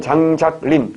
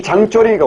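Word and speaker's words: 張作霖: 한자로 쓰면 장작림. 굉장히 논리적인 아이지. 장작이 쌓여서 숲이 되잖아. 장작이 쌓여서 숲이 된다. 장작림인데 중국 발음은 뭐라고? 장쪼린.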